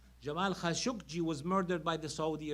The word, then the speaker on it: Khashoggi: We're shocked by the killing of Jamal Khashoggi. That's how you pronounce it.